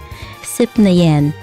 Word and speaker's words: Sipnayan: Okay, so I wasn't saying it correctly. It's not like a cat. Sipnayan.